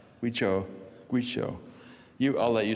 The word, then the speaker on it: Guizhou: Guizhou? Guizhou.